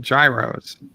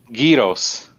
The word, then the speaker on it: gyros: Gyros. Gyros. Gyros. Yeah, exactly. Not kilos. Gyros. Like gear, like a gear, like you have a gear in a car, or a cog.